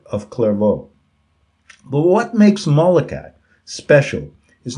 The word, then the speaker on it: Malachi: Saint Molokai, now frequently misspelled as Malachi, pronounced Molokai, Molochy, is regarded as the foremost prophet of the Roman Catholic Church.